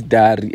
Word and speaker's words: Dari: My name is Dari, and you said necessary. Like, it's so nice. Just rhyming with Riri, like Rihanna and A$AP Rocky.